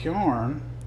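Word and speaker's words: carrion: And the word karn is an appalachin and southern dialectal pronunciation of the word kerrion which refers to dead rotting flesh. The word kerrion itself comes from old northern French and its pronunciation shifted from to karn over time particularly in the American south.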